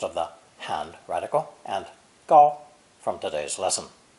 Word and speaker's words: 搞: This character is composed of the hand radical and gao from today's lesson. It's pronounced third tone, gao, gao, and is very common in speech because, somewhat like dong, it can replace many different verbs.